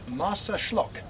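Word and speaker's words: Marsaxlokk: can we oh shh it's me this is martha schlock yes the uh x is pronounced like a shirt and it's an historic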